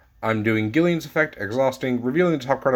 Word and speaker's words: Gillian: go ahead and do gillian again or Jillian I believe people like to pronounce her I don't know I pronounce the G so we revealed the